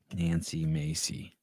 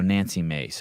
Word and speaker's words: Nancy Mace: Nancy Macy. Oh, God. I did. What is she? U.S. representative. Do I have her name wrong? Nancy I got Mace. M-A-C-E. Oh, Nancy Mace.